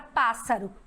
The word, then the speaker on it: pássaro: E a sílaba da palavra pássaro é a pá, não é?